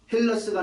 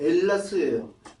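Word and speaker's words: Ελλάς: 헬라를 헬라스가 아니고 엘라스예요. 그 발음 자체가.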